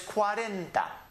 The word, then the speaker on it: cuarenta: number is cuarenta Cuarenta the syllables are divided qua ran da cuarenta Cuarenta believe in your book I had the syllables divided for you it helps pronounce the word if you haven't broken into its syllables so it's Cuarenta read it again cuarenta Cuarenta the next